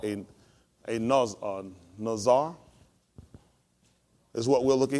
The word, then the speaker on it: Nazar: I think it's so. Nazar. That's how you pronounce it.